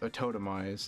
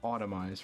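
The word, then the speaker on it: Autotomize: And yes, it is pronounced a Totemize and not Automize for some reason.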